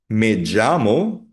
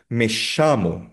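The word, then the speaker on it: llamo: Yung double L para siyang Yamo. Actually tatlo ang pronunciation niyan. You can say meamo, mejamo parang parang or dito sa Argentina Uruguay binibikas namin yan dito. Mamo.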